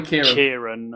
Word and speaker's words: Ciaran: Or is it Ciaran? Probably Kieran. Kieran. Kieran is the more usual pronunciation.